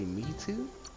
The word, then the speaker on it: Mito: Is your name really Me Too? Says it's pronounced that way, but spelt different.